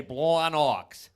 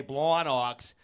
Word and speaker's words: Blawnox: 22nd at Starlight in Blawnox. But only if you say it like that. You have to say Blawnox. If you ain't say Blawnox, you're doing it wrong.